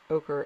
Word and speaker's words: ochre: And then this is the yellow ochre, ochre, not okra like the food you eat, ochre, O-C-H-R-E, I don't know, ochre.